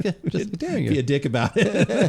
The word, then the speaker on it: Dareringer: Derringer. Okay. Okay, so it's pronounced the way we've been saying it.